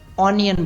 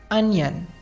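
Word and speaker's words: onion: Next word है प्याज, जिसको हम अक्सर ऑनियन बोलते हैं, तो ये ऑनियन नहीं होता है। उसका सही प्रोनाउंसिएशन है अनियन। अनियन।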